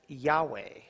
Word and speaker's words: Yahweh: y he vah he now some pronounce this as Yahweh or yve you see